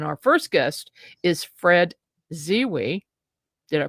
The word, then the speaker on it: Zewe: And our first guest is Fred Zewe. Did I pronounce that right, Fred?